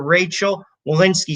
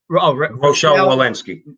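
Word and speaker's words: Rochelle Walensky: a mask or physical distancing cdc director dr rachel walinski said rochelle wallensky my bad my jerseys i pronounce things like my father which is jackass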